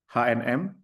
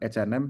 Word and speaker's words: H&M: Kemudian ada ee H&M ini karena perusahaan ini dari Belanda jadi bacanya bukan HNM tapi H&M ya sama dengan ee Indonesia ya.